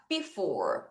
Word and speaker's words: before: B 자, f 4 for 자, 요거 한꺼번에 연결해서 한번 발음해 볼게요. 따라하세요. before 다시 before 다시 before 다시 before.